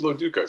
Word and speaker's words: Loduca: It is Loduca, so I appreciate your being of course, on top of it.